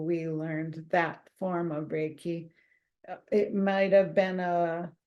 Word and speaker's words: Reiki: you know and and the word Reiki is two syllables it's Ray and key so Ray is channeling